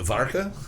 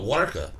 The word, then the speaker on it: Warka: We're going to attempt to pronounce it Varka. This looks like Polish Budweiser to me. Oh, Warka. Varka? The bottle. Is the V a W? Is the W a V?